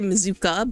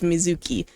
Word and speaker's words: Mizuki: I was going to say Mizuka, but it's Mizuki.